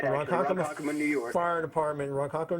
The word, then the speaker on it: Ronkonkoma: I'm not going to pronounce this. Ronkonkoma. Ronkonkoma. Yeah, you got it right, actually. Ronkonkoma, New York.